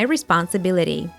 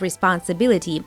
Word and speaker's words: responsibility: good for Roses now let's practice the American flap t or du sound in this sentence it is my responsibility T at the end of it and T in the word responsibility they both stand between the vowel sounds that's why we hear